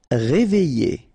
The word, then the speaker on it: réveillé: Réveillé. Okay, I, double L, I, réveillé.